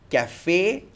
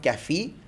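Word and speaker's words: café: that particular letter so E is pronounced as a that is why we say cafe and not caffee and feyonce and not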